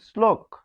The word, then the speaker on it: শ্লোক: সেই তালবস্য কি হবে দন্তস এর মতো এখানে উচ্চারণ হবে কিরকম শ্লোক শ্লোক তাহলে এটি হবে শ্লোক এখানে হসন্ত দিতে